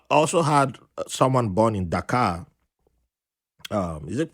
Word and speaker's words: Dhaka: Nigerian and I've also had someone born in Dhaka is it pronounced that card the captive Bangladesh yes yes